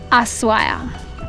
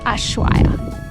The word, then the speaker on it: Ushuaia: But they pronounce it S instead of SH, so it's Ushuaia, not Ushuaia.